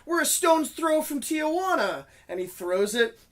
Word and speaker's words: Tijuana: Tijuana. No, dude, you're adding an extra syllable, Tijuana.